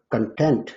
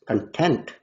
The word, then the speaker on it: content: If the first syllable of the word content is stressed, it means something to do with material. But if the second syllable is stressed, content, the word means satisfied.